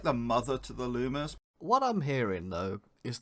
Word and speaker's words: Luma: Next up is Rosalina and Lumia. Yeah. So Rosalina and Luma are... Thank you for pronouncing it correctly.